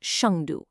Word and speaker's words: 上都: That's pronounced Shangdu.